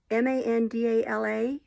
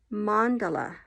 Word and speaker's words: Mandala: carron or caron um m-a-n-d-a-l-a the yarn is mandala um or mandala so anyway it's i